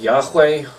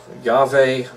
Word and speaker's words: Yahweh: So we got, how is it pronounced? Yahweh, Yahweh, many different ways to say.